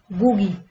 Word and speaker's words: GUI: These are the modern operating systems use a graphical user interface or GUI, pronounced GUI.